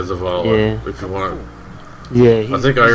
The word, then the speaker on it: Zavala: So what is Zev here, or whatever you pronounce his name? What does he want? I know he's my, I don't know, is he my house leader? Zavala? Yeah, Zavala.